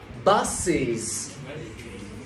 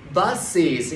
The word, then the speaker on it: buses: Nhưng mà lúc đọc bus là một âm tiết, các bạn vui lòng cộng thêm một âm tiết nữa là thành hai âm tiết, để cho đọc thành như các bạn, buses, để cho đọc là buses.